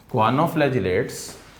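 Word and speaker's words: choanoflagellates: H silent है, अगर एच के साथ पढ़ोगे तो च्वानो पढ़ा जाएगा। क्वानोफ्लैजिलेट्स क्या होते हैं और एज सच किस फॉर्म में एग्जिस्ट करते हैं?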